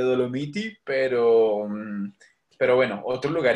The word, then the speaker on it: Dolomiti: recuerda las dolomitas bueno no sólo se pronuncia en italiano le dolomiti pero pero bueno otro